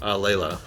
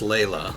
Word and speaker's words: Layla: i believe or delilah laila okay i thought i was saying it right but the roof crowd here wants my neck so don't worry it's layla okay thank god um